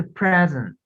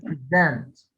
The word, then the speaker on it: present: عملت ستريس على first syllable هنا فقلت present. هنا قلت present.